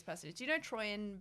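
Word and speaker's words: Troian: Bellisario, yep, and Troyan.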